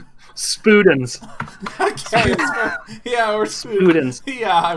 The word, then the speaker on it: Spudens: Leigh has to tell us the pronunciation Yep. of it. S. Okay. P. Okay. U. D. E. N. S. Spudens.